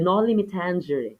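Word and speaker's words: Noli Me Tángere: At yung letter Can, no, yung Nolimitang or yung yung college professor ko no, he pronounced this as the nolimitangery.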